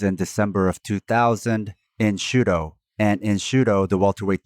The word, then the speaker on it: Shooto: The reason why it's called Shudo is because it's the Japanese pronunciation of shoot.